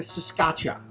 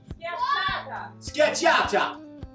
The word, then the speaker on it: Scacciata: And so we've just done like a scotcha. I can't say it properly. Scotcha. Scotcha. God bless you. Carolina. Scacciata. Scacciata. I always get told off.